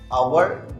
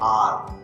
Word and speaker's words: our: अब आप बोलेंगे ये तो लिखा हुआ है आवर, सर पढ़ रहे हैं आवर गलत प्रोनाउंस किया जाता है, ये है आर।